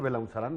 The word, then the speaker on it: Belaunzarán: gracias quiera preguntar de cómo se pronuncia correctamente belaunzarán así como lo hiciste belaunzarán muy bien lanzarán es mejor que